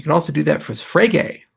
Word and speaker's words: Frege: You can also do that for Frege, rhymes with Rage.